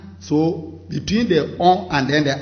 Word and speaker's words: on a: So between the on and then the a, don't forget we did liaison. We have to pronounce on a. We don't say on a. No, en français, il faut dire on a. On fait liaison ici.